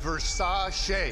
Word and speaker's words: Versace: fashion designer Gianni Versace was shot on the steps of his bill pronounced Versace a singer that's Liberace it was a create he